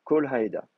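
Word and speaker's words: כָּל־הָעֵדָה: Donc, si vous avez un makef, vous allez le vocaliser avec un kamet ratouf. Kol haeda.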